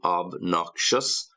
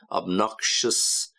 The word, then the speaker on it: obnoxious: You get the same sound at the end, shus. Obnoxious, pretentious.